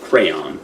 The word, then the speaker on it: crayon: then like words after Crown listen we're from Philadelphia and we say it's I think it's supposed to be pronounced crayon but we say Crown yeah I say crayon